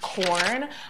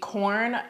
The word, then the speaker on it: Quorn: spicy girl so yeah i believe this brand is pronounced corn i really enjoy the corn cutlets i've had both